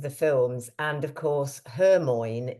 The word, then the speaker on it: Hermione: And of course, Hermione is actually pronounced differently to the way he had spent 7 books, I think it is, calling her Hermione.